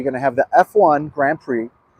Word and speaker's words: Grand Prix: to have the F1 Grand Prix and um or Grand Prix I believe is the correct pronunciation uh but there's also